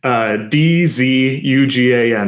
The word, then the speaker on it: Dzugan: We've got, so it's Dzugan. There's a silent Z in there.